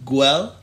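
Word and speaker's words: Güell: and then there's uh if i say it right park gwel park way way part guay thank you it's spelt g-u-e-l-l parkway you're you're you're actually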